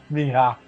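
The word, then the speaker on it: Meija: Well, how do you pronounce it? M-E-I-J-A. Mija.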